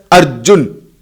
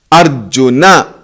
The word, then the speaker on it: Arjuna: they call it as Arjun, Krishna. But according to the Samskrita Bhasha, Arjuna, Krishna, the pronunciation has to be that way.